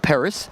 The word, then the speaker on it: Paris: make it better like paris i will call it well i would call it paris as opposed to pari right so you're welcome para sounds way better then how would you